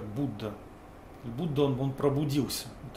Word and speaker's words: Buddha: балка пробужденный или будда пишется пишется как будда но произносит обычно как будда будда он он пробудился